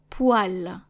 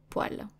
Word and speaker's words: poêle: Donc une poêle. Une poêle. Some people will pronounce it poêle, actually, but I personally have heard it being pronounced more as poêle instead of poêle.